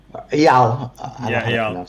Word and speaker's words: Eyal: He says that he lives in the south where Eel is. I verified with Eel, or, Eel. Eyal. Eyal, you pronounced it right.